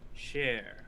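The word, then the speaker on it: shere: for memories to be extracted from a target share and it's spelled s-h-e-r-e it is extremely difficult to find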